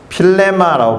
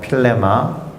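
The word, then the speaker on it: φίλημα: 필레마라고 발음되는 그리스어예요. 필레마.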